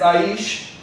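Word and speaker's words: אִישׁ: out of man, because man is Aish in ancient pronunciation, and woman is Aisha, which means she came out of man, or she's revealing she's coming out of man.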